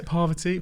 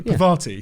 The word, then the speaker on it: Parvati: okay poverty part is that you say poverty Parvati Parvati Parvati probably there are three